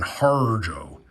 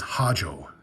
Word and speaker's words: Harjo: That's actually closer to the way you pronounce it than Harjo, because Hajo, Hajo, some southerner did. That's how I got the R.